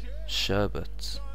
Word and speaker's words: sherbet: Sherbet. Sherbet. So this one or sherbet? Sherbet. First one? What? Sherbet. It's actually sherbet. Everyone I've known has always said sherbet.